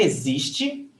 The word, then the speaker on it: existe: Você existe. The stress is on zis.